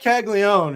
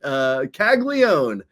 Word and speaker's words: Caglianone: Jac Caglianone, who's just been tearing it up this year across AA and AAA.